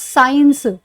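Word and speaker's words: science: साइंस, अब देखिए इसमें देखिएगा आप, ये जो ये वाला सी है ना, ये आपका साइलेंट है साइंस में, ठीक है। अब आप इसको एस से बुला रहे हो और साथ में साइंस बोल रहे हो, बीच वाला सी की साउंड ही नहीं आ रही है, तो इसको साइंस थोड़ी बोलोगे, साइंस बोलोगे।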